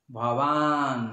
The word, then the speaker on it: ভবান: ভবান ভয়ের সাথে আকার আর ভি ভয়ের সাথে দীর্ঘ ইকার, দুটো দীর্ঘ। ভবান বান ভবান আগে ভি ভীষ্ম ভীষ্ম, সকারটাকে মকারটাকে স্পষ্ট উচ্চারণ করতে ভীষ্ম ভীষ্ম।